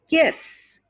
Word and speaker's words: gifts: of the word gift but if you add an s at the end and make it plural you don't hear the tea anymore it's gifts gifts look at all